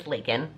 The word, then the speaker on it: Laken: If you are new here, hi, my name is Laken. Rhymes with bacon, that's how it's pronounced.